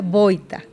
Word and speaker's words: Vojta: Se escribe bocta con J en la mitad, bqueña o JTA. Ba, pero se pronuncia boita.